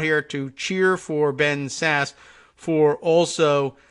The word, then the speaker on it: Sasse: another important story and then Thank You Ben Sasse sassy when did we learn how to pronounce that senators name for pursuing truth that